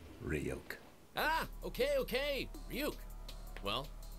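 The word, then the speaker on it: Ryuk: those of the death notes demon react it's pronounced ryok ah okay okay puke well we have as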